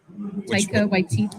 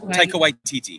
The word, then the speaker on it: Taika Waititi: movies in the franchise, including projects by I butchered this name. Taika Waititi. Taika Waititi.